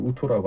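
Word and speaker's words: 玉兔: 예, 이제 중국 발음으로 우토라고 한다는데 이미 거기서 그게 이제 옥토끼라고 성공해서 돌아다니고 있고 예.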